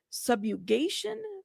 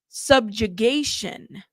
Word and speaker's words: subjugation: Subugation. Oh, what is that? Subu. Let me look that up cuz that's going to Is it subugation? Subjugation.